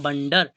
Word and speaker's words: wonder: अगला वर्ड दिया है, इसको क्या पढ़ेंगे, WONDER, ठीक है, इसका उच्चारण होता है बंडर, ध्यान रखना है, इसका उच्चारण क्या होगा, बंडर होता है, ठीक है।